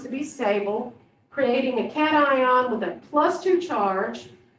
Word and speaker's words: cation: called a special name i pronounce it cation so you may hear it called locations or something like that but i like to call it cat ions they're positively charged ions